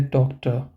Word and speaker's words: Doktor: So here we pronounce it as der Doktor, die Mutter, der Vater, der Bruder. So it may sound like we ignore the R part completely.